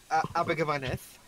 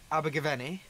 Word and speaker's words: Abergavenny: There's literally no TH at the end. What are you on about? Abergavenny. Thank you. Abergavenny. That's Abergavenny.